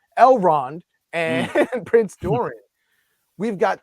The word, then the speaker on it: Elrond: with uh uh uh eldron and uh yeah I keep saying his name wrong elrond and Prince Dorian we've